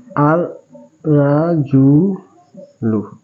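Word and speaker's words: الرجل: আর আর রাজুলু। এখানে লামের উচ্চারণ হয় নাই, এর বিষয়ে একটা কথা হলো, সেটা হরফে শামসি আর হরফে কামারের বিষয়।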